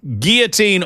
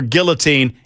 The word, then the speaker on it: guillotine: Uh, guillotine or guillotine. Either or either. It works for both of us.